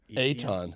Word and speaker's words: Ethan: pronounce Ethan recently, like Aton. Aton. Oh, yeah. Aton. Aton. They That's spell Australian, Ethan.